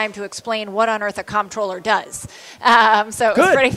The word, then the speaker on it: comptroller: Well, it's funny, too, because in Maryland, we say comptroller. Right. And lots of other places, they say controller.